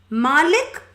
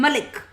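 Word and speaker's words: مالك: This word is pronounced two ways from the time of the Prophet ﷺ. It's nothing new from that time. Malik and Malik. Maliki Yawmiddin, Maliki Yawmiddin. It can be recited two ways.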